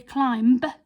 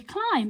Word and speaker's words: climb: is the again climb we don't say climb we just say climb because our b was a silent letter on the end of that word so there's a few